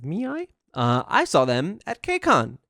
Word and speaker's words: ME:I: Okay, let's move on to our final one, which is MII. That's how you say it, right? It's MII.